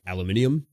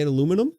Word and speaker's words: aluminium: you get Forge World models that are like aluminium but uh no Peter anymore aluminium what are we in Britain well that's how you say it no you don't no you say aluminum aluminum aluminium aluminium do you keep them in